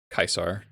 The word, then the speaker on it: Caesar: interesting character for sure kaisar do appreciate it like as a classics person i do appreciate that they used proper pronunciation oh god it's real